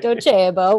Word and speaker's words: Docebo: i currently work at ducebo which is a really awesome e-learning company you got to say it properly yes docebo we are italian so it's a really